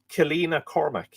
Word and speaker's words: Kilfinna Cormac: It may be considered certain that Kilfinna, or as it was also called, Kilfinna Cormac, pronounced Kilina Cormac. Oh yeah, because Finna would have a H or a shave, it would be lenited.